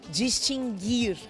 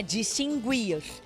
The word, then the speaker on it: distinguir: Distinguir é o certo, não é distinguir. Eu não consigo distinguir uma coisa da outra. Não tem o som do U.